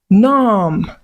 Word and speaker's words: numb: So when words end with M and B, focus on the M, ignore the B.